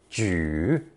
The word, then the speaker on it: 举: This original character is pronounced third tone, 举, and also has two interpretations.